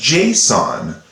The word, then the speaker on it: JSON: notation also known as json is how i pronounce it kind of like the psychopathic killer with the mask on his face jason this is json now